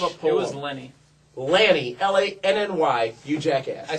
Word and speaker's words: Lanny: here the best wrestling mindes since the genius Lenny puffo leaping Lenny Lanny Mr pronunciation I have a PO it was Lenny Lanny la nny you jackass I see what it's